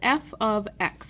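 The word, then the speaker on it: f(x): use this thing called f of X that's how you say it f of X I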